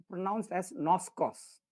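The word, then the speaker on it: γινώσκω: The root word for that is Ginosko. Ginosko. And it is pronounced as noskos. Okay.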